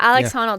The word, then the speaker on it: Alex Honnold: Like the Alex Honnold. Is that, am I pronouncing that right? Yeah, Alex Honnold.